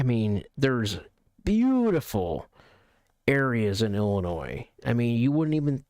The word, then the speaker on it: Illinois: Me, ETX, I am in Northern Illinois. It's not Illinois, which I see a lot of people making that mistake. And even to this day, it's not Illinois. It's Illinois. The S is silent. Silent S.